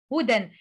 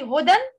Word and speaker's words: هدى: Can we say hudan? No, that is wrong. We read it huda, huda. Okay? For example, nura wa huda, huda. We will replace tanween with alif.